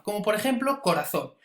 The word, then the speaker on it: corazón: sílaba como por ejemplo corazón veis que la fuerza recaiga al final de la palabra corazón no es corazón ni corazón sino corazón eso no sabe indicar